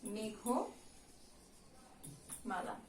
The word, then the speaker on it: মেঘমালা: মেঘমালা, এই ঘয়ের সঙ্গে একটা কি যোগ আছে? স্বরেও যোগ আছে, যেটার উচ্চারণ কি হয়ে যাবে? ও হয়ে যাবে, মেঘমালা।